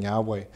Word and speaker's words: Yahweh: And I said that the way we pronounce the name Yahweh, is that right?